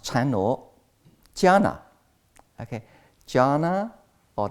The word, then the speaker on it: jhana: And also about 2,000 years ago, Chinese Buddhists copy the Indian ancient word, okay, jhana. And also in Sanskrit, it pronounced dhyana, but in Pali, it pronounced jhana.